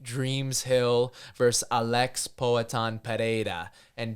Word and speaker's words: Pereira: Hill versus Alex poan Pera and don't use an H when you say his name Toby or I will break you because it's the wrong way to say it it's p or know